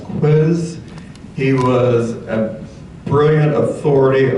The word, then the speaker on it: Koos: Lynette Stassen's husband is Koos, K-O-O-S. It's pronounced Quiz.